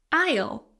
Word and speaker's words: aisle: Walk down the aisle, silent S.